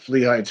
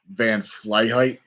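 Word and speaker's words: Van Flyheight: so i'll remember so i remember when i pronounced van fully high but it's not fleet heights fly high it's van fly height who so so first i remember he was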